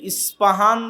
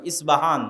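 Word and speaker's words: Isfahan: প উচ্চারণ করি ইসপাহান আরবিতে এটা উচ্চারণ হয় না আরবিতে হয় আল আসবাহানি বা উচ্চারণ হয় ইসবাহান বা আসবাহানি সেখান থেকে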